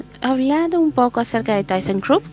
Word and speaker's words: thyssenkrupp: un poco acerca de thyssenkrupp que esa es la pronunciación del alemán por si acaso mientras